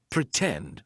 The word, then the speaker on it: pretend: Pretend, for example. In the word pretend, the stressed syllable starts with T, tend, pretend, right? So, we're going to use the true T sound, and then we can